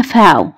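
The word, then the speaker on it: V: الحرف ده اسمه عندنا فاو، الحرف ده عندنا اسمه ايه؟ فاو. وحرف الفاو ده يا جماعة صوته يشبه الفه، زي الاف، خفيف مش تقيل.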